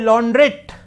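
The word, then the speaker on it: launderette: और हमारे यहां क्या बोला जाता है, लॉन्ड्री जिसे बोलते हैं, लॉन्ड्रेट, टी साइलेंट नहीं है इसमें, लॉन्ड्रेट, लॉन्ड्री वर्ड नहीं होता, लॉन्ड्रेट वर्ड इज करेक्ट वर्ड।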